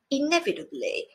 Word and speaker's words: inevitably: to the pronunciation apparently inevitably remarkably supposedly ultimately as you can see the last one is the only one with the stress on the first syllable the others have it on the second listen again rewind and